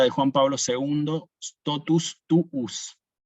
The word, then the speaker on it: tuus: Quizás ustedes han escuchado hablar de la fórmula de Juan Pablo II, totus tuus. Fíjense que nosotros no decimos totus tus, sino que decimos, o Juan Pablo II decía, totus tuus.